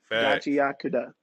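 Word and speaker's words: Gachiakuta: Then we got the the anime that's been plaguing the black community with the pronunciation of its actual name, Gachiakuda.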